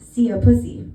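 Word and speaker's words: szia puszi: My favorite is that the saying goodbye kisses in Hungarian is pronounced "szia pussy."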